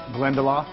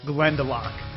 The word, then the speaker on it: Glendalough: wait first let me say how would I pronounce it glendel you're close Brian but you're miles away it's called Glend delock and the high-end whiskey is now available in